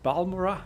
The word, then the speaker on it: Balmora: So now we are in Balmora, I think. Or Balmora as it's pronounced.